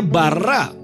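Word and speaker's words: ברא: Yang di kuning itu ya, dalam kurung kuning itu huruf Beit, Resh, dan Alef. Bacanya bara.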